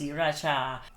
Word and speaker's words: Sriracha: Spelling that way but it's still pronounced Sriracha. One is pronounced the ending syllable with c h a. The other one is j a, but you still read it Cha.